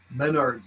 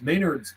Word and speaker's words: Menards: Hardware there's some uh it's pronounced different oh okay Menards Maynards Menards Menards Maynards cqdx cqdx 9udx 791